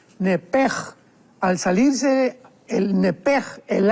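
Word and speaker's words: נפש: porque es la palabra nepesh con sh al final. Neph. En el hebreo se pronuncia eh la sh con j. Entonces, la pronunciación hebrea es nepej.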